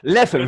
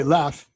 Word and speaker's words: Leffe: Because in America you would say Leffe. What's it good? Not right. No, that's not right. Leffe. Leffe. Leffe. Leffe. No, you said it right.